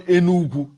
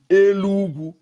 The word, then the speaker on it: Enugu: They call Enugu, we call Enugu, Elugu. They call Enugu, we call Elugu. It's different tongue, the way we pronounce it.